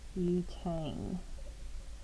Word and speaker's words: butane: chain that prefix this but that's a long u sound not a short u sound so this would become butane so three ethyl 2